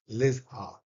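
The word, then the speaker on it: Lijphart: referred by Arnold Liz कैसे उसको pronounce करोगे पी बीच में आके सब गड़बड़ करता है तो पी को यदि गायब कर दे तो लिजाड लिजहा लिजहा तो आर एन लिजाहा तो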